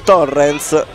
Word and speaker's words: Torrens: Già due occasioni nel giro di 90 secondi per il numero 5 Torrens, per pronunciarlo più correttamente alla catalana.